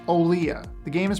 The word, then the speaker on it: Olija: i know it's spelled elijah but it's olea the game is pronounced olea this is one of the last things i